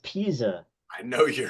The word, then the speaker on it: Pisa: Tower and then leaning pizza is that what it's called the Leaning Tower of Pizza let's bring it back down here we go again teacup I believe it's pronounced Pisa I know you're right